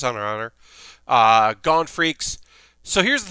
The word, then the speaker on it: Hunter x Hunter: The X is silent, and it's also not cross. This is Hunter x Hunter.